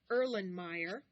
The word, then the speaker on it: Erlenmeyer: l e n m e y e r erlenmeyer flask f l a s k and that's pronounced erlenmeyer flask number eight small pinchers for